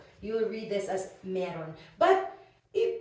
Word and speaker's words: mayroon: you'll read this as meron but it it's not wrong to say Myron as well okay but it's just common meron is just commonly used as the pronunciation of this one so okay how about